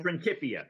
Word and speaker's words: Principia: Principia.